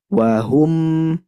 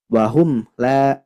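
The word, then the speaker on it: وَهُمْ: Nah, huruf mim punya sifat tawassut di antara rokhwah dan syiddah, maka harus ditekan membacanya. Tidak boleh terlalu mengalir, tidak boleh terlalu putus suaranya. Wahum, wahum, seperti itu.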